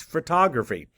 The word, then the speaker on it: photography: previously learned prefixes photo now this may not be pronounced how you think but what do you think the word might be it's photography photo meaning light graph meaning